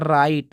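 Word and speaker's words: write: इसको पढ़ते हैं रैपर रैपर इसको पढ़ते है राइट जो कि आप पता होगा राइट मतलब लिखना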